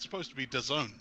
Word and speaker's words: DAZN: He used to work at DAZN, I think is how you say it. DAZN. It's definitely Dazn. doesn't.